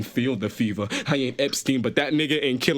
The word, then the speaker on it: Epstein: They tried to rhyme it with something else, and it was Epstein.